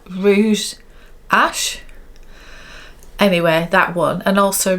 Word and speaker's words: Rouge H: I definitely said I would be interested in the Rouge Ash. Is it Rouge? It's like Rouge H, but I think you pronounce it Rouge Ash.